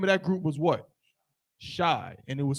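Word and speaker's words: Shai: Shy, and it was spelled how? S-H-A-I. So you can use it just like that. It's still pronounced shy.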